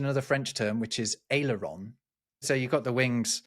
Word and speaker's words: aileron: But I pronounce it in a slightly French way because it is a French word, and it literally just means little wings.